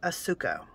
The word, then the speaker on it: Asuka: crazy this is a little japanese company called asuko and that is how you say it no